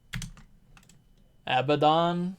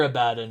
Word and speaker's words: Abaddon: I mean, I think that's how some people pronounce it. I think sometimes I've pronounced it like that just for fun. Just cause lol, but I'm pretty sure Abaddon is like the official pronunciation, I think.